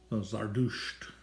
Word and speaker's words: Zardusht: The old Mazdaean religion of Iran, the Zoroastrian faith, Zarathustran, however you want to put it, Zardusht. I believe that's the proper pronunciation in Kurdish.